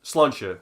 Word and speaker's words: Sláinte: How do you pronounce it? Sláinte.